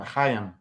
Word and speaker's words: Chaim: Ham or Chaim? Chaim.